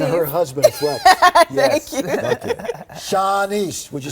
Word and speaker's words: Shanice: Sha Sha I want to do this right shaunise and her husband Flex thank thank Shanice would you say it right we went over